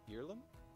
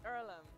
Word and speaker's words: Earlham: to you on lhsn is it ireland is it pronounced earlham it's earlham and it's a place